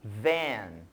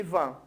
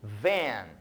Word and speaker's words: van: a nossa próxima palavra embora elas seja escrita da mesma forma em português a sua pronúncia em inglês é um pouco diferente a gente chama de Van ao invés de Van certo Então repitam comigo vem